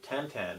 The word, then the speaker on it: Tintin: It's Steven Spielberg and Peter Jackson's Tintin, or Tintin, if you pronounce it correctly.